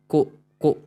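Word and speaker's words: 高校: दाईग दाईगाक meaning college university then this is को ठीक है नॉट को को इट्स उ है ना लॉन्ग वोवेल को कोको हाई स्कूल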